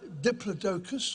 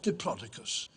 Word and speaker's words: Diplodocus: and here it is there are two ways of pronouncing and scientific name it's either Diplodocus or Diplodocus either way it's a